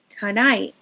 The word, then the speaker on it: tonight: So we're practicing that schwa. We're also practicing the vowel in the stressed syllable, but I want us to practice both. Hear how that schwa is really short and fast, and then hear how that other vowel is extended and long and high.